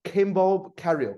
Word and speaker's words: Kimball Cariou: candidates Kimball Carroll from Communist Party obesity welcome Kimbo carrier it's my pronounce it correct pronunciation is good and thank